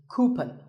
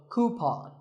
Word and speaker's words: coupon: have one of these a common incorrect pronunciation is cupen but the second syllable should be pawn so coupon here's word number 16